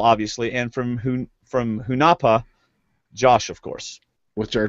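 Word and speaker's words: Hunahpu: correctly okay uh but interesting he pronounced it hunafa but anyway so he picked from coyopa Val obviously and from who from hunapa Josh of course which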